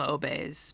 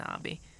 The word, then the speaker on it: obby: I call them obeys back in the day, even though that's not how it's spelled. It's an obby.